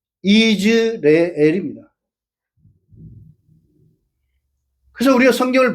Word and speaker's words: 이스라엘: 구약 성경에 시 신약 성경에 오게 되면 이방인들이 가지로 전목을 당해 가지고 그것을 이스라엘과 구별을 해서 계획 성경은 이스르엘로 되어 있는데 실제 발음은 이즈레엘입니다.